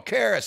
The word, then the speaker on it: Karis: And she says her name, and I mispronounce it on purpose because it sets it up. Kara. So Kara, and it was all Karis.